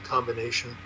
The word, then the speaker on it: combination: If it's not grammatical, as in combination, it's pronounced.